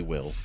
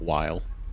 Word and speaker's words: Wyll: Tell me, will I'm so glad it actually is Will and not while. I've just been pronouncing it wrong.